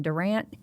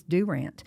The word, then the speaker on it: Durant: If I tell you want to make a jury mad, like in Durant, Oklahoma, if you go in and say, "Are you from Durant?" You're going to be ousted. It's Durant.